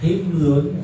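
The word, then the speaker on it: حِمْل: Tapi kalau dibacanya himlun dengan kasrah huruf ha, maka ala dhahri, beban yang ada di atas punggung.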